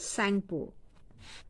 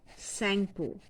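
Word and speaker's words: Tsangpo: And in China, it is known as Sangpo. T is silent here. Sangpo.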